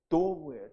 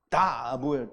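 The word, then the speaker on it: דב: 곰은 도브예요. 도브. 도브를 발음대로 하면 영어 발음으로는 도브가 뭐예요? 비둘기예요. 비둘기. 근데 여기는 비둘기가 아니고요. 다브예요. 다브.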